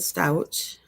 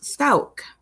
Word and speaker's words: Stauch: first live i did on gannon's case i pronounced it stouch um but once i figured out how to pronounce it i pronounced it the correct way so it is pronounced stouk sesame street used to do stuff were like